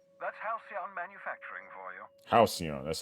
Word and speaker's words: Halcyon: Halcyon, that's how you say it.